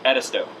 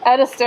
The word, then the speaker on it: Edisto: long time oh wait how do you pronounce it edisto edisto okay that's how i was pronouncing it okay how long has